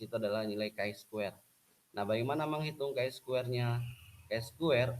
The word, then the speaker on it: chi square: Koefisien kontingensi sama dengan ini, cara bacanya adalah ini X ini chi square.